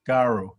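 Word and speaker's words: karo: the word for blood the missionary spelled k-a-r-o there's about six different possibilities for the pronunciation of that but because it was recorded in the neighbouring nougat language we know it's got a long vowel and an r like in english garu in terms of uh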